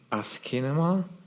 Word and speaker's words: asciinema: So yeah, I pronounce it asciinema because it's a combination of English ASCII and ancient Greek kinema, which means movement.